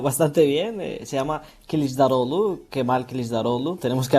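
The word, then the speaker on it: Kılıçdaroğlu: Bueno, lo has pronunciado bastante bien. Se llama Kisdarolu.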